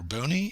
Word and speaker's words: Buoni: pronounce my name and if you said Dr bony you are correct uh this is a